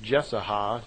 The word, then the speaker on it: Jesaja: spoke through the prophet, I believe it's pronounced Jesaja, J-E-S-A-J-A.